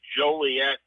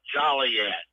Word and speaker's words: Joliet: We said this one, there's no noise in Illinois, and there's no jolly in Joliet.